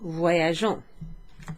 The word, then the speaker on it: voyageons: But if there were no E there, then it would be wagon. So sometimes there's an extra letter in the nous form. So je voyage becomes nous voyageons, and that is from the verb.